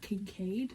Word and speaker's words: Kincaid: It was just confirmed to me today that Kincaid is the way you pronounce that, because I just finished watching Runaway Jury.